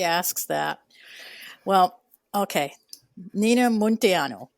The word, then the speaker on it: Munteanu: Nina Montiano, it's it's pronounced Montano.